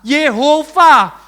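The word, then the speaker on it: יהוה: Jadi bacanya apa? Yehova.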